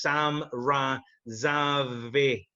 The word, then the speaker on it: Sam Razavi: doing the commentary, and he kept on pronouncing your name wrong. And I'm fucking messaging him like, it's Sam Razavi, because he was calling you something fucking different.